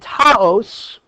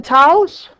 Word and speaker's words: Taos: Park is 1.71 and Taos that's how you pronounce it any of you ski who skis have you ever been to tows okay 1.